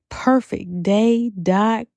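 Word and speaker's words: purfektday: more and more visit perfect day a. spelled how it is pronounced p u r f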